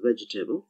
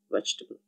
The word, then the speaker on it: vegetable: Vegetable is actually written as vegetable, four syllables, but it's said as vegetable.